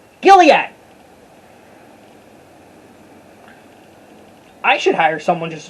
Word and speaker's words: Gilead: next to mount go trying to pronounce this gilliam not that android gilead i should hire someone